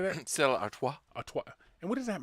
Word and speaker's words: Stella Artois: Stella Artois.